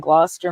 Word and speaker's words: Gloucester: It doesn't sound like it's spelled. So no, not at all. There's like 3 extra letters in that word.